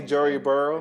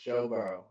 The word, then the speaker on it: Joe Burrow: A healthy Joey Burrow. It's going to be a very competitive Joe Burrow. Say it right, man. Joe Burrow.